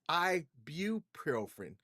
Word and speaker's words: ibuprofen: It's ibuprofen. people don't really pronounce the U in it, but it is IBU and then profin.